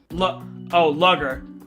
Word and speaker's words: lager: Not a lager this time. Lager? What is that? How do I pronounce that? How do you pronounce L-A-G-E-R? Lager. Oops. Hold on. Lugger.